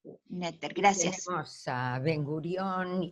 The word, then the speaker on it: Noether: Se escribe Noether, pero se lee Netter. Netter, gracias.